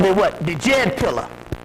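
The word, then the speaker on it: Djed: The Jed pillar. The real way it is pronounced by the Egyptians was the Shed pillar.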